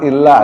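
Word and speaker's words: إِلَّا: surat Al-Asr itu kan illal ladzina amanu wa amilus solihati wa tawassaw bil haqqi itu bacanya illa pakai tasydid.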